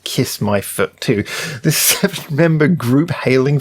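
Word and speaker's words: Kis-My-Ft2: foot too anyway yeah apparently pronounced kiss my foot too this seven member group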